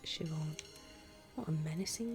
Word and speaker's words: Siobhan: Siobhan. It's pronounced Siobhan.